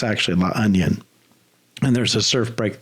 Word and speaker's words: La Union: you'll come to it looks like it it's pronounced La Union but it's actually La onion and there's a surf break there but there